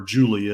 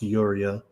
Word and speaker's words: Yuria: his fiancée Yuria, or Julia as they often call her, but it's according to this, it's supposed to be pronounced Yuria, to find a future for themselves in the post-apocalyptic world.